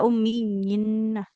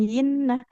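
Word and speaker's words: أُمِّيِّينَ: Tidak ummiyina.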